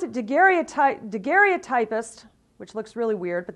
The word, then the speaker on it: daguerreotypist: And so Baldwin became the first full-time daguerreotypist, or they pronounce it daguerreotypist, which looks really weird, but that's the way they say it, in Kalamazoo.